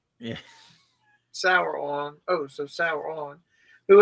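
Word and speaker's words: Sauron: Saron, pronounced like sweet and sour. Yeah. Sour on.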